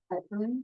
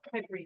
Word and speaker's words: piperine: Is it piperine? Is it antioxidant like turmeric, right? That- Piperine, just like piper. Yes. Yeah. Pepperine. I think that is how you say it.